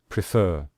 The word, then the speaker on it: prefer: And you can see here we stress the final syllable. When we say prefer, we say prefer.